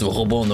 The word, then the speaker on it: Robin: I mean, Robon, I guess if you know the real French pronunciation is Robon, obviously, you know, Mayamo.